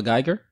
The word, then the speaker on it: Guyger: with her oh that that's how her name is pronounced amber Geiger hamburger yeah yeah I gotta